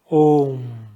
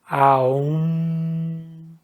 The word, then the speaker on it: Om: no resto do mundo, o A mais U vira O. Então, Om. Mas eu já vi excelentes professores dizendo que a pronúncia correta é Aum, Aum, Aum.